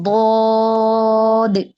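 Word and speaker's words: ض: তারপরে হচ্ছে কি দদ। দদ অদ। দদের উচ্চারণ শক্ত, জিহ্বার গোড়ার কিনারা উপরের মাড়ির দাঁতের গোড়ার সঙ্গে লাগাবো।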